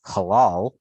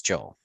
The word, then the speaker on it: Joel: Except she pronounced it halal, like the diet, Hole. and then proceeded to tell me after like, I want to say 6 months of pronouncing it like halal, his name is Joel.